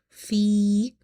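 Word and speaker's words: في: Fi, ya is madda, because before ya sakina you have kasra, which makes this ya madda. So we will read by stretching up to one alif. Fi, okay.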